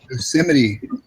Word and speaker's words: Yosemite: Yosemite. Yosemite? Yosemite Park.